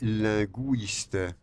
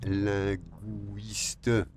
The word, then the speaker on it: linguiste: L'une de mes sœurs est linguiste. Aquí veis linguiste. Nosotros ponemos la diéresis. En francés, no obstante, no se dice linguiste. No. Linguiste.